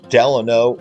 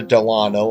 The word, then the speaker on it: Delano: On the right, we see the Delano or the Delano. I've heard it pronounced either way.